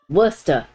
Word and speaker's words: Worcester: Worcester. You gotta say it like you can't talk.